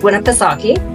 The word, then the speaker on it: Winnipesaukee: He is on Lake Winnipesaukee.